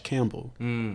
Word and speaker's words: Campbell: I would say or for, and then Campbell like the soup.